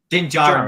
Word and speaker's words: Din Djarin: I can never pronounce his name. Din Mandalorian. Din Djarin. Din Djarin.